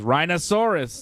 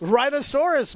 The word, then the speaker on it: rhinoceros: to buy that man AJ pronounced the animal rhinoceros rhinosaurus man you still remember that I mean it was great it's ridiculous I've never heard anybody pronounce rhinoceros like a dinosaur a rhinoceros that's what